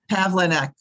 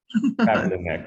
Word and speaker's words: Pavlinek: It's Pavlinek. Pavlinek, sorry. So okay, Joanne that's Pavlinek, fine.